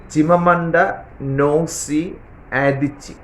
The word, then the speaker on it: Chimamanda Ngozi Adichie: African ഭാഷകൾക്ക് നമ്മുടെ ഭാഷകളിൽ നിന്നും വ്യത്യസ്തമായ ഒരു ചൊവയാണുള്ളത്, ഉച്ചാരണ ശൈലി. Her name once more, ചിമമണ്ട നോസി ആദിച്ചി, ADICHI.